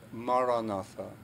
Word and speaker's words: Maranatha: If you choose this word, say it as 4 syllables, Ma-ra-na-tha. Ma-ra-na-tha.